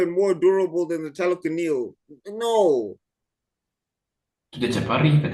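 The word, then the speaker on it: Talokan: And in the end, also in the final battle, he's not even like destroying Telecanil.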